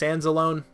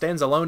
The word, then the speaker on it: Anzalone: linebacker I've always died I thought it was pronounced Anzalone II I could be wrong but I'm just gonna say ends alone and I feel like that's how I've heard it pronounced at least more recently